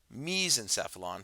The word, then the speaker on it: mesencephalon: brain are sufficient terms the way this is pronounced is prosencephalon mesencephalon for the midbrain and rhombencephalon for the hindbrain